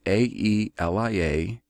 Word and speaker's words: Aelia: That is A-E-L-I-A, so Aelia, maybe, and I-L-I-O-N, like I lion.